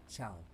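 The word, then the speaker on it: Tschau: Just remember to pronounce it as ciao.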